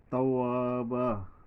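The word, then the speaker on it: توابا: তাওয়াবা, তাওয়াবা, এই বায়ের উপরে দুইটা জবর আছে, তবে তার আগে এই ওয়ার উচ্চারণ করার পরে এক আলিফ টানতে হবে, এখানে একটা খালি আলিফ আসছে।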